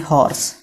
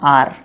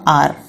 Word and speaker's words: hour: और दूसरा लिखा मैंने HORSE हॉर्स। तो जब मैंने HOUR लिखा बेटा, मैं इसे क्या पढ़ूंगा? मैं इसे पढ़ूंगा आर। इसे हार तो नहीं बोलूंगा, इसे बोलूंगा आर।